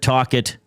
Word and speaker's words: Tocchet: The Rocket is apparently Rick Tocchet's nickname. I've never once You've heard that. You've never heard Rick the Rocket Tocchet? Well, it rhymes, but I've never heard him called that.